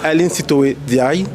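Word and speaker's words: Aline Sitoé N'Diaye: On est de retour avec Aline Sitoé Diaye. Bien ça, je le prononce bien?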